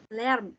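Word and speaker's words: Lärm: Lern. Bising. Ya, lern. A umlaut dibacanya E.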